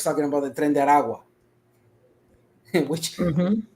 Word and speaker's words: Aragua: And yes, it's pronounced Aragua.